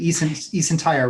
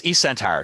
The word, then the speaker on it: eSentire: And you work with, how do you pronounce the name of the company? eSentire, right? Yes, eSentire.